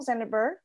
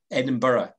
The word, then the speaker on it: Edinburgh: the size of the netherlands um the capital zendeburg edinburgh right edinburgh edinburgh okay and one of your national symbols